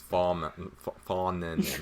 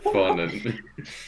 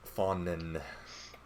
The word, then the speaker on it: Fawnen: It's Fawnen, not. Oh god. Fawnman. How's it going there? Dude, I'm getting a stroke now as well, just because of all the mispronunciations. How's that appreciation for life going? Down the drain. Fawnen. No M in there.